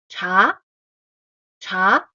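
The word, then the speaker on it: 茶: Cha here is with the tone two cha cha from pitch middle to high.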